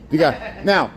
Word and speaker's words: Degas: Degas.